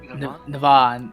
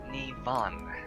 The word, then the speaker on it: Nivon: Navon, I am not good with names, so It's quite an easy name to pronounce. It's Nivon.